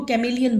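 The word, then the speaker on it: chameleon: हैं देखिए यहां पर जो एच है ना इसमें साइलेंट है इसलिए इसको कैमलिन बोलेंगे ओके देखिए एक्सप्लेनेशन ऑफ द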